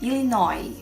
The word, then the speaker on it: Illinois: como exemplo também o estado de illinois nos Estados Unidos que termina com s mas a gente não pronuncia illinois pai não e de